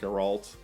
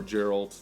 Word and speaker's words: Geralt: three main characters being Geralt or Geralt they pronounce it differently depending on which region you're in and stuff like that